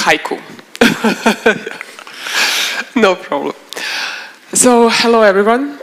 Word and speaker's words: HYCU: agevice CEO please foreign it's pronounced haiku no problem so hello